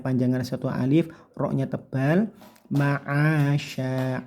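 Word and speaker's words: معاشا: Ma'asya, a-nya bagus, jangan sampai membacanya seperti huruf hamzah a, tapi a. Ma'asya, shinnya tebalkan karena ini shin besar ya, dengan cara desisnya yang banyak sya, atau seperti huruf sy gitu ya, sya, shi, shu, bash.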